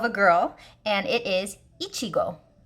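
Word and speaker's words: いちご: Sometimes, like in some anime series, it's a name of someone, of a girl, and it is Ichigo. Ichigo.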